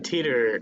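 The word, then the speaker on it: Titor: They pronounced it John Teeter in the English dub of the show.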